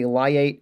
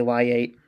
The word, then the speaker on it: LIATE: that we can say liate instead of why yet right it's a little bit easier to say lie eight and remember that okay